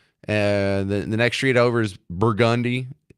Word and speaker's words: Burgundy: The next street over is Burgundy. It's spelled Burgundy, but they pronounce it Burgundy.